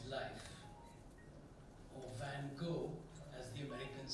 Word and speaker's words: Van Gogh: Vincent Van Gogh's life, or Van Gogh, as the Americans say, or Van Gogh, as the Dutch say, you gotta clear your throat and say the name at the same time.